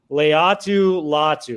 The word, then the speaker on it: Leatu Latu: And you got to correct me if I mispronounce this one again. Leatu Latu.